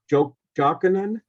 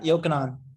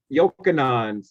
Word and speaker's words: Yokanan: if I can just jump in for the is it Jokanan? Yeah, Yokanan. Yokanan, sorry to mispronounce it.